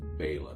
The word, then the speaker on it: Bela: I might just call it Bela sardines because it's easier, but it should be pronounced Bela, B-E-L-A.